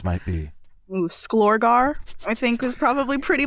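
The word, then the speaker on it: Sklorgary: wives is in that there's just one y but it's at the end and it's silent um s-k-l-o-r-g-a-r-y s k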